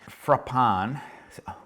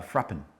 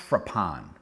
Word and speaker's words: Frapin: that is super unique frappan when i saw this actually it was oh i was calling it fr uh frappin frappin as in you know give me a frappin uh is that a